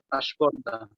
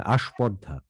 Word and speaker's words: আস্পর্ধা: কিন্তু প, ফ যখন মধ্যবর্ণ বা অন্তবর্ণের সাথে যুক্ত হয় এর সাথে, তখন এর উচ্চারণ প্রবণতা এসএইচ হিসেবেই থাকে। যেমন আস্ফালন, আস্পর্ধা। হ্যাঁ, আস্পর্ধা, হ্যাঁ, আস্ফালন, কিন্তু আবার স্পর্শ, স্ফুরণ, স্ফটিক।